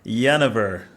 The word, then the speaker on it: Yanover: I'd love to introduce to you Dr Marina yanover welcome Marina thank you thank you Andre it's